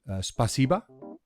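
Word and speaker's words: спасибо: And do I say this correctly if I say spasiba?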